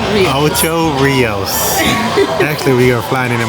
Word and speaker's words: Ocho Rios: Ocho Ricos. How you say it? Ocho Rios.